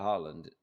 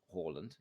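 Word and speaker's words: Haaland: with a striker like harland horland we should again work on the front pronunciation so horland is where we're going isn't it um if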